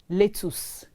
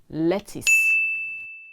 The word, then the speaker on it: lettuce: our salad the vegetable l-a-t-t-u-c-e is not pronounced letus it is lettuce s-u-b-t-l-e is not subtle